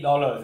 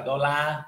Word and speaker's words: dollar: Để ý dollars, để ý nhá, cái này không phải là đô la, như tiếng Việt mà là dollar, dollars.